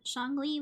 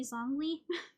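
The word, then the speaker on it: Xiangling: for instance in genin I thought shangi was originally zongi it's like a z right like sun on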